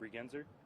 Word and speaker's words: Bregenzer: Last name is B-R-E-G-E-N-Z-E-R. And I am with the Texas A&M Forest Service as a public information officer on this incident. Pronounce that for us, Alex. Bregenzer?